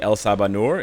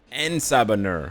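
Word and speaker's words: En Sabah Nur: I want to see El Sabanur. Is it El Sabanur? El Sabanur? I don't know how to say his name, dude. En Sabanur. My bad. En Sabanur, not El.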